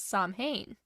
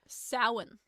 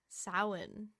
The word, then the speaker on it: Samhain: Celtic festival of Samhain, which most people typically mispronounce as Samhain. I think I did that in one of these episodes. Or to my sister, I don't remember. How do you pronounce it? Samhain. Samhain.